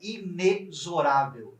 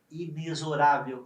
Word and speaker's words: inexorável: acreditem não digam inexorável a pronúncia correta é inexorável nesse caso X tem som de z inexorável inexorável inexorável e o